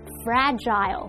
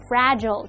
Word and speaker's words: fragile: 到人，那老师用到 fragile 或者是念作 fragile，它是拼作 F-R-A-G-I-L-E，那它是